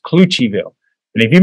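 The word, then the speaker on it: Cloutierville: uh where mono is furious and it's called cluchiville but it's spelled c-l-o-u-t-i-e-r-ville clue to your bill but it's pronounced cluchiville and if you mispronounce it they might they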